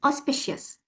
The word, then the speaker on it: auspicious: It's auspicious.